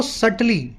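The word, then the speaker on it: subtle: तो दुकानदार इस्तेमाल करते हैं बहुत ही चालाकी भरी या इंजेन्युअस टैक्टिक्स का, पैतरों का, ताकि वो सटली, देखिए ये वर्ड है सटल, इसमें बी साइलेंट है।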